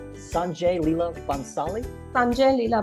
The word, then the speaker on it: Bhansali: my youtube videos i okay like how to pronounce his name sanjay lila bonsali sanjay lila bhansali yeah you know he's a very famous famous